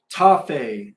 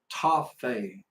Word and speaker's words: Tafe: Oh, so your name is pronounced Tafe, Tafe, Tafe. You got it. Tafe.